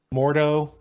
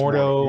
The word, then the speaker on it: Mordo: Home to be, I'm going to get his name wrong, Mordo. Oh, yeah, more Doctor Doctor Strange's nemesis. Right. Yeah, I think it's Mordo.